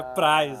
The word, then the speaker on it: Preis: O pessoal fala Preis aqui em Coronel Vivida, mas é Prais, né?